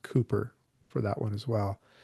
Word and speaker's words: Cowper: Um, in the British writers there was Compton and Cooper and there's another one that will come up on the next shelf that is it looks like cowper but it's Cooper as well.